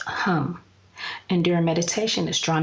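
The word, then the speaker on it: Ham: for the heart chakra is H AM pronounced a home and during meditation is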